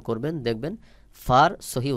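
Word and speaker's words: فاء: তারপরে ফা, ফা অনেক সময় আমরা দুই ঠোঁট একসাথে করে উচ্চারণ করি। সহি উচ্চারণ হলো নিচের ঠোঁটের পেট সামনের উপরের দুই দাঁতের আগার সঙ্গে লাগাইয়া বাহিরের দিকে বাতাস বের হবে। যেমন ফা, ফা।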